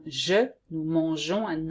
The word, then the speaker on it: mangeons: And here you have to add an E to make the sound je, nous mangeons, and not nous mangeons.